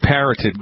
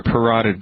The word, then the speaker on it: parotid: This guy has a tumor of the glands in his face, the parotid gland or parotid gland, depending on how you pronounce it, depending on what part of the country you're in.